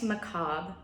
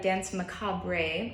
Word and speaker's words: Danse Macabre: going to learn dance McCobb this might look like dance macabre a but it is French so we did not pronounce the last part of that word alright I'll play it